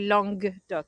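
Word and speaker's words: Languedoc: i lose you lange i'm pretty sure it's actually long doc so it's l-a-n-g-u-e-d-o-c oh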